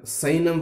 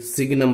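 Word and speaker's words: signum: Sixth one, साइनम function, don't read any buddy सिग्नम function, ji silent there, साइनम function, super topic.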